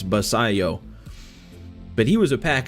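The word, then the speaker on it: Basallo: call him cuz I wasn't sure how to pronounce that last name at first but now I know it's basayo but he was a Pack Attack Legend last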